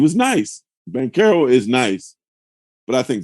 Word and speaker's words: Banchero: Like I think I need to get it confirmed, but all right, the security guard said Paolo told him it's Banchero, which I think sounds cooler.